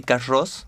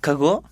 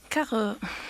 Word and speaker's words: Carroz: But last year I discovered that the name is a French name. Yes. It's Carroz Carroz.